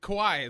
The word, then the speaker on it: Kawhi: Kawhi is the way you pronounce it, right? Yeah, Kawhi's the deal.